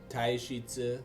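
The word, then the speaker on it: Taishi Ci: Taishitsu, I think is how it's pronounced.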